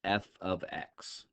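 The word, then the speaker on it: f(x): so we pronounce this F ofx okay so this is pronounced F ofx not ftimes X or anything like that it's F ofx and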